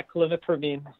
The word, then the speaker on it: clomipramine: question is, please talk about the benefits of clomipramine. Good. Yeah. Yeah. Is that right? Uh-huh. Okay. Yeah, that's right. Yeah, clomipramine.